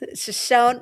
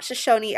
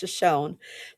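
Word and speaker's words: Shoshone: Shashon, not Shosonyi. I know the tribe of Shosonyi, but the falls are pronounced Shashonne. This is Shashonne Falls.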